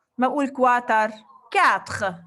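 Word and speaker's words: quatre: 4. Le R je prononce mais le E non.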